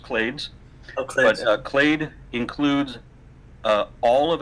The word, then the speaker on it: clades: so different kind and clads is a common ancestor for everything but times limit their common ancestry - no no you know in neither case it's actually pretty it's pronounced clades okay clade includes all